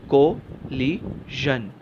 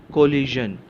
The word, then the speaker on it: collision: The pronunciation is कोलिजन, कोलिजन, कोलिजन।